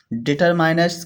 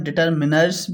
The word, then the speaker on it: determiners: पढ़ाया था जिसको अपन डिटरमिनर्स भी बोलते हैं। ठीक है? तो कहीं-कहीं डिटरमाइनर इसका उच्चारण होता है और कहीं-कहीं डिटरमिनर्स होता है। तो अपन इसको डिटरमिनर्स बोलने वाले हैं।